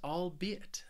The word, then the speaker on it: albeit: the next word is albeit this word has three syllables and the stress is on that second syllable albeit albe it and this word just means